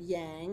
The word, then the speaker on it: Yang: yang I'm sorry I mispronounced your name already we have members of